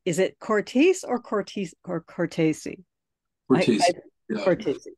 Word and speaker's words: Cortese: Cortese. Okay, just pronounce all the vowels all the way through it. Thanks. It'll come out right.